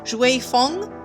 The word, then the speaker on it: Xue Feng: But it's actually pronounced "Schway Foung." So that is her name! Xue Feng.